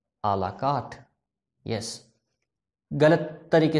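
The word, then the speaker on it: à la carte: सो इट इज अ word taken from French and is pronounced as आ ला कार्ट।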